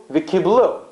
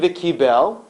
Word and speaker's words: v'kiblu: Kimu v'kiblu. It's written one way, it's written v'kibel, and it's enunciated, it's pronounced v'kiblu.